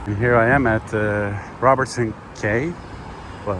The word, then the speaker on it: Robertson Quay: And here I am at Robertson Quay. Well, Robertson Quay. Somebody corrected me on YouTube actually. It's pronounced as Quay, not Quay, as I usually